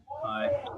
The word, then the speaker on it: Pi: Pie. Just like the Pie.